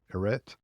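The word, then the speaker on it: ἀρετή: The Greek word there is arete. I've also heard it pronounced arete. It's arete is how you put that in English letters.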